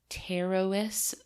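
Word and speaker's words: Pterois: So, first of all, the red lion fish's scientific name is Terois Volatans. That's with a silent P, by the way.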